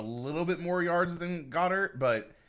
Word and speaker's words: Goedert: Goddard, sorry.